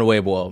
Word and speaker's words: Weibo: pronounced, I believe, more like Weibo. Or is it Weibo? Yeah, it's Weibo.